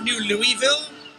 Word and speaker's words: New Louisville: It's pronounced New Louisville. Louisville. Just small clarification.